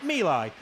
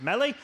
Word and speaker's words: Milai: learnt at the nationals pip milai is uh the apparently the correct pronunciation of the surname but we all know him as mellie but uh pip then